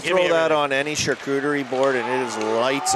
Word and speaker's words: charcuterie: throw that on any charcuterie board and it is lights out any what board charcuterie you want to say that again is that right saying it wrong no you're saying it absolutely right rims it around for